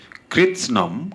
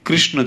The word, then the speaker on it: কৃৎস্নম: কেউ কেউ কৃষ্ণ শব্দের অর্থ লিখেছেন, আসলে শব্দটি কৃষ্ণ ছিল না, শব্দটি ছিল কৃৎস্নম। কৃৎস্নম।